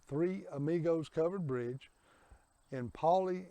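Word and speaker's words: Paoli: Monica and I are here at the Three Amigos Covered Bridge in poly Indiana and Paulie is spelled p-a-o-l-i this bridge was built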